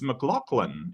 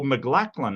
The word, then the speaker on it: McLaughlin: Like, it's McLaughlin. It's not that hard. Or McLachlan, I think he's some people pronounce it, and either way's fine.